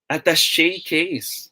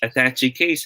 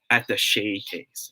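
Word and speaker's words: attaché case: face yo thank you the proper way to say this word is you guys are correct yes at the shay case okay it shouldn't be pronounced as attaching case huh okay it should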